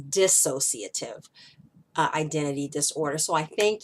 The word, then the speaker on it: dissociative: me on the pronunciation I was saying dis associative but the word is dissociative identity disorder so I